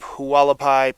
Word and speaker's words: Hualapai: we are starting up Hualapai peak in the beautiful Arizona sunshine I think it's pronounced haapi I think I have that right and even though it's